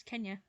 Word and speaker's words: Kenya: And Kenya? Or Kenya? How do you say it like that? Kenya. It's Kenya.